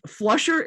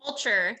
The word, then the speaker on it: Fulcher: Flusher, am I pronouncing Russ Flusher's name correctly? Fulcher.